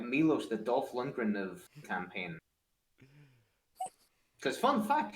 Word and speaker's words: Dolph Lundgren: Dolph Lundgren. Not Dolphin.